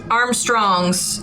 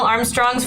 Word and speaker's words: Armstrongs: Okay, because Armstrongs has to be Armstrongs or Armstrongs? Do you see what I would say? It's two syllables.